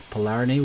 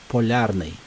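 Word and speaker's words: Polyarny: a really bad thing polarney we've got su-27 taking off properly pronounced as polarni all right still have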